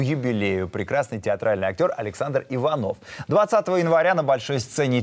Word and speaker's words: Иванов: названия кстати о названии вот у нас тут возник некоторых пор иванов или иванов почему да антон палыч так решил поиграться с ударением антон палыч по моему был уверен как какое ударение нужно ставить это мы понять и